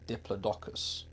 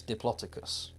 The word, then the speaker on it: Diplodocus: The one that got me is, I would say, Diplodocus, but it's Diplodocus. That's because someone told me and I thought, no, bullshit, you're lying. And I looked it up and I listened to the official pronunciation, and it was Diplodocus, and that blew my mind.